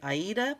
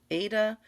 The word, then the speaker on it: Aida: Some people say Aida, some people say Ada. It just depends.